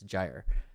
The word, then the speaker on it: gyre: With the correct pronunciation is not gyre, it's gyre, at least in American English pronunciation.